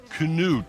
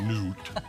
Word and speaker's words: Knut: Happy birthday to Knut. That's the way to pronounce it, not Newt.